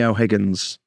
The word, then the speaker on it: O'Higgins: Or was it Bernie O'Higgins?